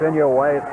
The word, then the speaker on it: Inouye: It's Inouye. Now I have the correct pronunciation.